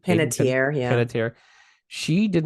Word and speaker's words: Panettiere: Panettiere, yeah.